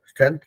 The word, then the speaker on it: strength: तो जब हम उसको प्रोनाउंस भी करते हैं तो उसमें वो स्ट्रेंथ दिखता है। स्ट्रेंथ, जो लास्ट में थ है ना, वहां पे थोड़ा सा जोर लगेगा, स्ट्रेंथ, स्ट्रेंथ।